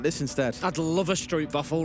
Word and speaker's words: stroopwafel: I'd love a stroopwafel right now. Oh, How was my pronunciation on?